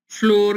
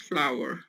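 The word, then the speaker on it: flour: पाकिस्तान में हम इसको मोस्टली जो है वो फ्लोर कहते हैं, आटा। इट्स नॉट फ्लोर, इट्स फ्लावर। फ्लावर है सही प्रोनाउंसिएशन इसकी।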